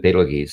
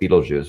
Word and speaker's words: Betelgeuse: I pronounce it Betelgeuse. Some people call it Betelgeuse. There actually are four varying pronunciations depending on where you derive the name from.